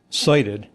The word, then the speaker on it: SIDIT: So, SIT pronounced uh cited.